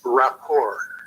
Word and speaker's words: rapport: Well, first of all, I don't want to seem nitpicky, but the proper pronunciation is rapport.